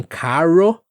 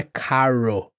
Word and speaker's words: carro: Como eh eu falei de falar, em falar tudo bem, mas em carro não. Não é carro. O C também não tem esse aspirado. É K seco. R ro r aqui mais vibrante ou gultural.